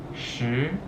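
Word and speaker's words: 十: And it's pronounced shi, shi.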